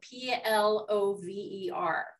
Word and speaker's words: plover: What is the correct pronunciation of the bird whose name is spelled P-L-O-V-E-R?